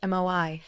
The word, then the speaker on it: moai: This tradition is called moai, pronounced moi, and it may be one of the most important reasons Okinawans live longer, healthier lives.